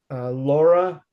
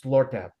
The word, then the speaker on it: Lortab: Laura something. Mhm. You mean Lortab? There's no A in it. It's Lortab.